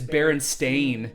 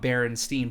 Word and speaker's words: Berenstain: Bears yeah but it's Baron stain it's Baron stain not Berenstein but we call it